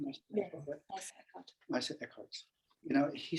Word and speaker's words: Eckhart: Eckhart.